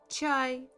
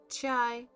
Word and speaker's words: чай: Chai. Chai.